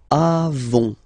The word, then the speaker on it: avons: Then nous avons, final S not pronounced, avons. Okay?